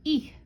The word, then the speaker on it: ith: Words that end in ith, or there is a word that is just ith and it means eat, is pronounced ich, ich, ich the yinyer, ich the lone.